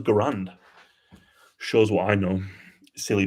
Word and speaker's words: Garand: It's pronounced Garand. Is it? I thought it was Garand.